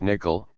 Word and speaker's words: N1QL: 5.1 Introduction to N1QL N1QL pronounced nickel is couchbased SQL like query language It allows you to query JSo documents using familiar SQL syntax.